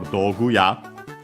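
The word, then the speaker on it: 道具屋: It can make the word unaccented. And actually, in our case, that's our case for doguya.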